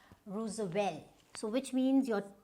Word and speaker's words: Roosevelt: Then we had another US president, Theodore, and this is Theodore, and this is not Roosevelt, it's Roosevelt. So which means your T, you don't need to pronounce the T.